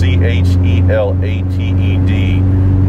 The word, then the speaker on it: chelated: If you can get the trace mineral when it's chelated, that's how it's pronounced. It's chelated.